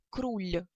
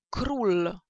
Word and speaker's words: król: Ну и, например, да, первое слово мы не можем прочитать как круль, круль, так? musimy przeczytać jako król. Król, tak? Czyli poprawne polskie L, język do góry zakręcamy i tylko wtedy wymawiamy.